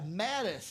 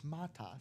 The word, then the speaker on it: Matas: have when people say when I hear people in basketball go, "Ah, yeah, Mattis." It's like, "No, it's Matas."